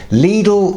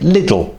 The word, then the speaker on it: Lidl: And, yes: “Leedle” is the correct pronunciation.